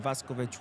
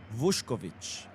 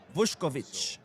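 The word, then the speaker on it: Vušković: Andito says Mo just to inform you that you are pronouncing Vasovich wrong. It's pronounced Vushkovich. Oh, okay. Key sounds include the the which sounds like vush and kovich and then pronounce kovich.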